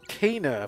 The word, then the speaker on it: Kena: you hear that barrow he said kana i want to go this way though oh no so it's cana for some reason it's cana but at least he pronounces his cana what's this about what's